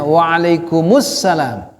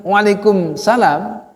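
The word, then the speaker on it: وعليكم السلام: Alif Lam Salam Assalamualaikum yang menjawab mestinya juga pakai alif lam karena itu Waalaikumsalam bacanya wa'alaikumussalam kalau kita jawabnya Waalaikumsalam artinya nggak ada alif lam ya kita bicara bahasa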